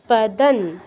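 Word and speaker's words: পদম্: তদ বিষ্ণু পরমম পদন, পরমম অনুসারের পর প আছে, এই জন্য পরমম হচ্ছে পদং। অনুসারের পর ক থেকে ম এবং ইয়ালা এর বাইরে আছে, বাইরে কোনো একটা কিছু আছে, তো এই জন্য আমার অনুসার উচ্চারণ বাংলার মতো হচ্ছে পদং। সদা দাতে দীর্ঘ, পশ্যন্তি এর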